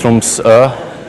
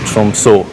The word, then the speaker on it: Tromsø: It's pronounced Tromsø. The letter is Norwegian, so English people pronounce it Tromsø.